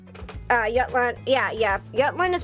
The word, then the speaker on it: Jutland: Jutland is pronounced Jutland. Yep. The J is pronounced with a Y.